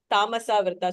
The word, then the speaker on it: तमसावृता: Was the earlier pronunciation incorrect? Tamasavrta chanena.